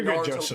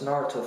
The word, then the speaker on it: Naruto: It's not Naruto, it's Naruto, right?